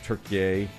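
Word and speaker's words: Türkiye: It's always been Turkiye. They're just asking other countries to pronounce it the proper way. For 100 years we've been saying it the wrong way.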